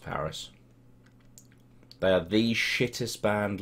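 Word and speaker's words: PVRIS: Oh, it's pronounced Paris.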